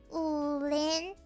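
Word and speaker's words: Wulin: What's the pronunciation? It's Ulin. Ulin.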